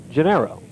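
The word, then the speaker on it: Genao: And although it is spelled G-E-N-A-O, it's pronounced Gennaro.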